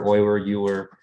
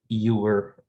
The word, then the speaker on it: Euler: You can, I've heard Euler, Euler, whatever makes the most sense to you.